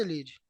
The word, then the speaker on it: Elide: Ou tem algum pronúncia diferente? Se quiser contribuir com alguma coisa, Elide.